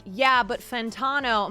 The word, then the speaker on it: Fantano: rude but I believe his last name is pronounced fantano fantano fantano fantano Anthony